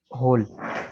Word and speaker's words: whole: इसके बाद है होल, WHOLE, होल, WHO हु। अब देखें ऊपर गुजरे कि WH अगर हो तो H साइलेंट होगा, लेकिन यहाँ W साइलेंट है।